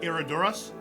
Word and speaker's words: Herradura: There's this bottles of, it begins with an H, but it's pronounced Herradura.